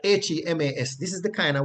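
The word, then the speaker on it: ἡμᾶς: would use words like HEMAS. This is the kind of word you would see in the text, right? HEMAS. And that would be pronounced hemas, hemas.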